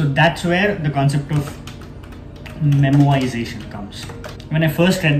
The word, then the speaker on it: memoization: later, I was like, why are people not pronouncing R? Like why are they so particular about saying memoization? Why not memorization? And then when I Wikipedia it and Googled it, I realized it's actually memoization.